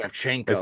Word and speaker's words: Shevchenko: Whoever ended up winning, I believe she beat sure stink did Valentina Val- Shevchenko. It's Shevchenko. like That's how you say it.